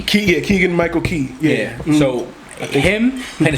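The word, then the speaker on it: Keegan-Michael Key: But Keegan Michael Key. Keegan Michael Key.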